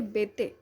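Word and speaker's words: Béteille: आज मैं आंद्रे बेते, ठीक है, बेते ही भी पढ़ते हैं, ये स्पेलिंग होती है सही।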